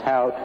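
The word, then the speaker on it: Hauck: Well, a good example of that, my name is pronounced Hout, not Hawk.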